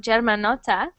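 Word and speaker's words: Germanotta: And great pronunciation of Germanota.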